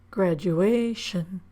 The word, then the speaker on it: graduation: We don't stress shun. We stress the syllable or lengthen the vowel in the syllable before shun. Graduation.